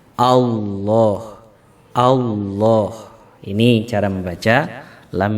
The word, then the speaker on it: Allah: membacanya Allah Allah misalnya ada yang membacanya Allah Allah juga salah tetapi yang benar adalah allohu allohu ini cara membaca